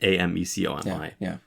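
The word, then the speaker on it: Ame-Comi: Ame Kami? I don't know how to pronounce that. Amecomi.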